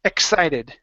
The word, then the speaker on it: excited: instead of saying excited give me a k and an S sound so ex excited you might be excited